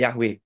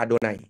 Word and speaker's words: YHWH: Kita enggak boleh baca Yahwe, kita bacanya Adonai.